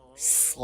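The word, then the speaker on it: ص: Closing your teeth together and touching the tip of tongue with the upper and lower front teeth, which are highlighted. From here, you can pronounce Sad, Sad, Sad, Sad, Sad, Sad.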